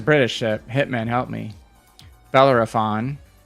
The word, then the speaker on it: Bellerophon: and bellar bella for uh belarus i can't pronounce it matt smith help me it's it's a british ship hitman help me bellerophon right bellerophon oh you have obie on your side too